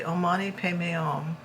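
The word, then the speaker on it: Om mani padme: how that's spelled because they don't really say the D. It's it's written as podme but they say Oman pay. So they don't say the H in that either.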